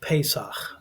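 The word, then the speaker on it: פסח: This week, last Saturday started the feast of Pesak is how you say in Hebrew, but we would call it the feast of Passover.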